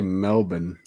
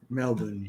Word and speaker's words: Melbourne: Florida Melbourne Florida no no no Australia I think they say Melbourne Melbourne yeah I think I